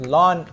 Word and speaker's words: ln: exponent ok now go into your lon okay I prefer this one more one more time I'm stressing you pronounce it as lon X not I n X the graph looks something